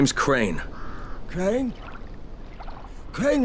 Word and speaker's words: Crane: name is crane okay crane rhymes with train and brain and sang and Carl and rain and plane and the other kind of plane and and can I